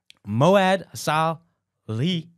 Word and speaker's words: Mouad Salhi: And today I have an opportunity to talk to my good friend, Mouad Salhi. Did I say it right? Yes, He goes by Mo, okay?